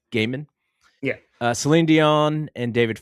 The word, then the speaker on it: Gehman: I think it's Gaiman. Gaiman.